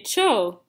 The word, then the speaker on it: Tcho: right here it says just say cho and that's how it's pronounced i mean that's what